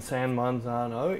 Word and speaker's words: San Marzano: San Marzano, I think. Yeah, find tomatoes that have been grown and canned in San Marzano in Italy. That's how it's pronounced.